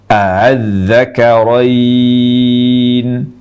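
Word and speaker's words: ءَآلذَّكَرَيْنِ: A yang pertama dibaca jelas, lalu yang keduanya dibaca tashil antara hamzah jelas dengan alif. Saya ulang cara baca yang kedua. Adz-dzakarain. Jadi dua cara ini yang kita pakai dalam membaca Al-Quran.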